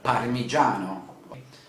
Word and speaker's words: parmigiano: of cheese but one typical italian cheese is parmigiano parmigiano that means may i have a bit of